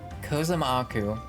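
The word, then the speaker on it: Kozama'uka: Kozamaku is how they pronounce that.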